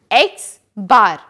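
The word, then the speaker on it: x̄: the result is 22.86 that means the mean is 22.86 the mean m is represented by capital x and it is pronounced as x bar individual score is denoted by small x total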